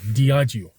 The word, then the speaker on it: Diageo: Diageo, yeah, I was just getting the pronunciation right. I had to Google Translate. Diageo.